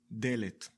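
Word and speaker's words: דלת: we pronounce it ‘delet’.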